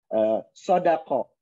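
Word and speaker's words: صَدَقَ: Jadi ini adalah semuanya Rasulullah SAW, karena wakuri'a, dan dibacanya sodako bitakhfif, jadi tidak pakai tasydid.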